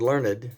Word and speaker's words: Learned: My name is Learned. That's pronounced just like Miss Michael Learned of the Waltons.